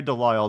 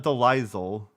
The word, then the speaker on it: DeLisle: But yeah, no, it's pronounced Grey DeLisle, though I think she goes by Grey Griffin now. It's not DeLisle.